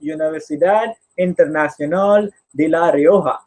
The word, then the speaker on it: Universidad Internacional de La Rioja: He did his MBA from Universidad Internacional de La Rioja. I pronounce that in Spanish because this university is from Spain, and he did his studies in strategic management and digital marketing.